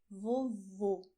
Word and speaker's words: vovô: Pay attention to the difference: "VOVÓ" "VOVÔ".